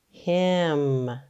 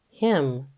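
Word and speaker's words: hymn: it says I again this time we have a silent letter too the N is actually silent so let's sound out this word ready him him now this isn't the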